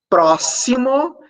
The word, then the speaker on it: próximo: de ch de X próximo esse X tem um som desce e exame esse X